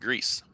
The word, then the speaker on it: Gris: Okay, well we know she ain't lying because when you say y'all, that I think she was saying her name pronounced Grease.